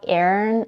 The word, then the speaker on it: Aaron: agree on is that both names are pronounced with two syllables with a stress on the first one the second syllable isn't